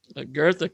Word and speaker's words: Goethe: Well, Goethe comes in. Yes, the name is pronounced Goethe, sort of an R sound.